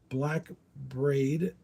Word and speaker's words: Black Braid: Black Braid, I think is how you say it. It's BRAID.